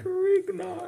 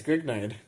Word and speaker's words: Grignard: That's Grignard. Grignard, I think is how you say it. It's Grignard. No, it's fucking Grignard. Because it's a French name. He's French. Dude, Francois Auguste Victor Grignard.